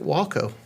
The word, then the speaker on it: Waco: decide Waco instead of wacko or Waco um I do not know but uh it's just a BRI you know a first letter off each letter of the name and uh they Pro pronounce it Walo probably up there they